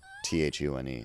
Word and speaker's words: Thune: And still people can't pronounce it, which it just seems so obvious to me. Thune. It's like, if you were like Thune, Thun, you know how words work, right?